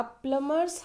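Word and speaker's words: plumber: है है ना अ प्लमर्स हाउस ऑलवेज लीक्स जो प्लमर होते हैं देखिए ये प्लम प्लंबर नहीं होता है। प्लमर होता है। B will be silent.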